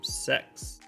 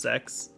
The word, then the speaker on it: CeX: game stores aside from sex ah did I pronounce it right is it pronounced sex as I say it I hope so I hope that's actually how it's pronounced they were two separate